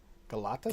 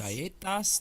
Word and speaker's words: Galletas: Galatas? Galletas de boda. Galletas. Okay. Mexicanas. Yep, like I said, I would have butchered Wedding cookies.